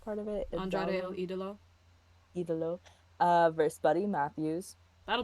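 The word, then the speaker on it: Ídolo: Andrade El Idolo.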